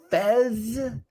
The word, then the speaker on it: Phes: know what's funny is it's p-h-e-s but when i pronounce it i think of the foreign exchange student character on um that 70s show yeah that's actually where